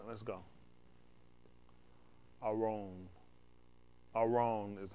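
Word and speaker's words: ארון: Aron is how you pronounce it.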